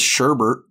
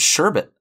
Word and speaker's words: sherbet: wedness day it's like it's like sherbet and sherbet like it it's spelled sherbet but everybody says sherber and it's like no it's sherbet was one of those